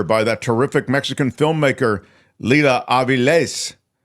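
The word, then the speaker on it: Lila Avilés: that terrific Mexican filmmaker Leela AES thank you for the proper pronunciation it has the accent of the the end there so that's why I did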